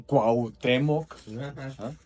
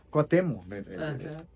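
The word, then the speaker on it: Cuauhtémoc: A la manera en que la gente pronuncia, pues no no cuutemoc, sino cuatemo.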